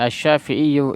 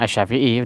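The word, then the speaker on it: الشافعي: Tapi kebanyakan orang bacanya asy-Syafi'i udah biar gampang ya. Karena orang Arab biasanya enggak demen baca asy-Syafi'iyyu ya. Itu aslinya aja, aslinya asy-Syafi'iyyu.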